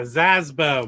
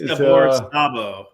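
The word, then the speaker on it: Gabor Szabo: I think it's Gabor Sabo. I think that's how you say it.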